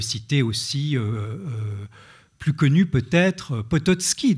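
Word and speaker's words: Potocki: aussi plus connu peut-être pototski dont je vous ai parlé au Potoki si on le prononce à la française l'auteur du manuscrit trouvé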